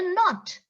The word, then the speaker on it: knot: no what is it the actual pronunciation not okay please tie a knot not next one k n